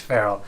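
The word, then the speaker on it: Ferrell: I mean will feral his last name is pronounced feral for sure I'm not saying that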